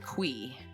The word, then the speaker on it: Qi: Chi or Mr. Qi or simply Mr. Q. But concerned Ape recently confirmed in an interview that the correct pronunciation is in fact Mr. Qui.